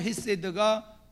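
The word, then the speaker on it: חסד: 긍휼이란 말의 말이 히브리어로 원어로 발음할 때는 헤드라고 발음을 합니다 원어로 헤세드가 국이라고 하는 단어이고 그러면이 세드라 하는이 원어의 긍휼이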